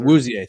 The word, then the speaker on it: Awuzie: Okay, speaking of support, former Colorado player, Shedeur Awuzie, I believe is how you say it. I think John said it differently. And more Awuzie, yes, sir. Awuzie, thank you.